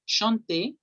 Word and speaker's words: chanter: Los verbos en infinitivo, es decir, sin conjugar, se pronuncian hasta la E. Por eso es chanter, Chanter.